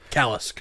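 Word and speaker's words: Kalisk: Kolinsk. No, Kolinsk. Yeah. No, it's Callisk.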